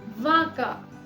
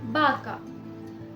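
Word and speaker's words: vaca: तो कुछ जगहों पर इसे व प्रोनाउंस किया जाता है, कुछ जगहों पे इसे ब प्रोनाउंस किया जाता है। जैसे वासो या फिर बासो, वेला या फिर बेला, वाका या फिर बाका। दोनों ही प्रोनाउंसिएशन बिल्कुल ठीक है।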